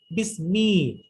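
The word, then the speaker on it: بِسْمِ: হ্যাঁ, সেখানে কিন্তু আমি আলাদা কিন্তু হামজার উচ্চারণ হয় না, একবার বির সাথে কিন্তু যুক্ত হয়ে যায়, এবং বিটা সেটা আসবে বিসমি।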